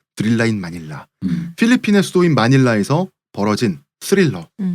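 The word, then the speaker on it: Thrilla in Manila: 이것이 드릴라인 마닐라, 스릴러인 마닐라를 흑인식으로 빨리 발음해서 드릴라인 마닐라.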